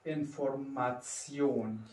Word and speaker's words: Information: T I O N spricht man als Zion aus. هلا في عندنا هون القاعدة الأخيرة أن هدول الأربعة لما بيجوا مع بعضهم رح تلفظون Zion Zion. Wie in dem Wort Information.